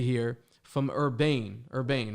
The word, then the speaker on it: URBANE: URBANE, right? That's how you pronounce Yep.